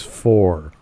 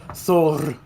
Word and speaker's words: Thor: the word Thor as for. No, that's not how it's pronounced. It's so, what, okay. Hold on. It's Thor. You have to put an extra kind of slight.